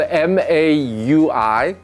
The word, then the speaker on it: Maui: you it's spelled they're spelled m a UI like the island in Hawaii but uh the pron I guess the correct pronunciation is Maui so I'm showing you